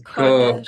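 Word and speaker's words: קודש: It's Kodesh. Kodesh. The Kodesh. accent's on the first syllable.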